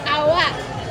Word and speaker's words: Awa: This you pronounce this Awa.